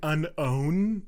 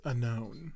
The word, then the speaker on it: Unown: I say it differently you sound like you're saying Unown like with a space in there it's unknown I I put space